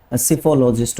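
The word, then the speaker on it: psephologist: देखो जब भी पी के बाद एस आएगा, आपका पी जो है क्या है, साइलेंट रहता है, ठीक है। एस से आपका स्पेलिंग प्रोनाउंसिएशन शुरू होता है, स्पेलिंग पी से शुरू होएगा, जो प्रोनाउंसिएशन है वो एस से शुरू होएगा।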